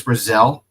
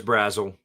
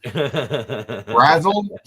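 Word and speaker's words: Brazzell: Uh Chris Brazelle is that his name? Chris Brazelle. Chris Brazzle. Brazil. Well, I mispronounced his name. Brazle.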